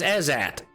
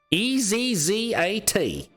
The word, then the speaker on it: Ezzat: His name is Ezat. Could you spell that? Sure. Ezzat. Ezat. Not very creative. As in, is that a pain in my ass or what?